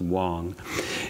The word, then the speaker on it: Wang: You'll hear about his, in fact, it's spelled Wang, but I believe that it's actually pronounced Wong.